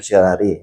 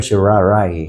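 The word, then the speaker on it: certiorari: yan sa law school ang pronunciation daw diyan sa sir shari ay hindi sh shari kundi sh sharay sh sharay so nababanggit ko yan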